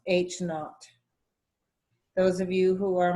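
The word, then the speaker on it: H₀: for that is this it's H with a little zero and it's pronounced H naught those of you who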